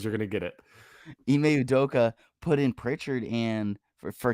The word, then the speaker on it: Udoka: And with the way Marcus Smart was playing in Game 4, Ime Udoku, did I say it right, Cade? Almost Ime Udoka.